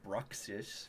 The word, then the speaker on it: Bruxish: unboxing vids there's this one pokemon it's called bruxish you can look it up how the do you spell that b-r-u-x i-s-h approximation bruxis yeah okay but